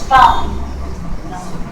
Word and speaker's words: thumb: But in autumn, I'm not pronouncing the B, I'm just pronouncing the M consonant sound. Climb, crumb, land, thumb, dumb, plumber.